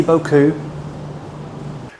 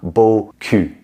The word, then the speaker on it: beaucoup: English speakers, we don't really, depending on where you're from some regions you will have this sound, but depending on where you're from, a lot of people do not have the OU sound in French.